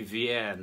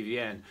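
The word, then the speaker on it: Vierne: vein is by another french composer by louis vien that's v-i-e-r-n-e louis vienne who wrote six organ symphonies and this is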